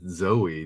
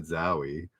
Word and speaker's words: Zowie: Oh, I should have pronounced it Zoe, not Zowie.